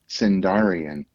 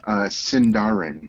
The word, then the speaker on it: Sindarin: A, Taliska, B, Terraline, C, Sindarian. Sindarian. B. And let me amend. B is pronounced Tellerin. Tellerin. Oh, okay. Well, now that changes my thought. I'm sorry, what was C? Yeah, Sindarin.